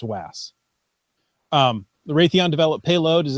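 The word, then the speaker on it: WAAS: support the FAs wide area augmentation system typically pronounced vas the Raytheon develop payload is a key element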